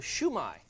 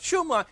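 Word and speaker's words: shumai: and it's called a shoe my shoe my Shu - Mei shoe my and it's pronounced downhill Chinese always goes downhill da-da-da-dah so it's not shoe my and it's not shoe MA it's shoe my shoe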